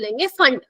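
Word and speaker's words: Pfund: उसको हम क्या बोलेंगे फंड note P फंड पी यहां पे साइलेंट है बच्चा टिकट क्या बोलेंगे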